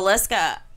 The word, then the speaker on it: Villisca: It's in Valeska, Iowa, and I think it's spelled Villisca.